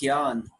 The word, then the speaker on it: Jnana: It's usually spelled with the J-N, but it's pronounced Gyan, which means intelligence or knowledge, right?